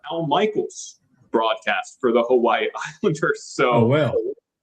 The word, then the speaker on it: Hawaii: It could it could be most people pronounce it as two syllables when it's three. Most people maybe maybe that was it. But but the proper way to pronounce it is Hawaii.